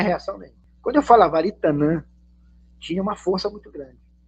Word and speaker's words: Aritanã: Aí eu botei um tio, ficou Aritanã. A partir dos 14 anos de idade, eu só me apresentava como Aritanã.